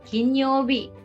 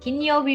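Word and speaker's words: 金曜日: for days of the week and and you pronounce it yobi so this is ken yobe king kinyobi and kinyobi means friday next is for a rich person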